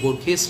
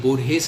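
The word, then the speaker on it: Borges: तो उसमें बोरखेस लिखा था। तो तब मैं बहुत छोटा था। मैंने आज से 40 साल पहले की बात बता रहे हैं। तो वो बोले कि नहीं बोरहेस इसका सही उच्चारण है।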